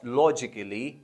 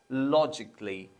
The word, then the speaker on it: logically: A is usually silent when it is followed by double L, Y. Logically, basically, and artistically.